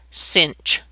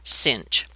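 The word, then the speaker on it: sinh: of x so it's written like this with a sine but then an h after it and it's actually pronounced cinch don't ask me where the comes from but this is pronounced cinch okay well what would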